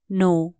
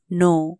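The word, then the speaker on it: know: जानो लाइ के भन्ने नो के एन O double you नो यहां के साइलेंट हु्छ तसले कनो है ना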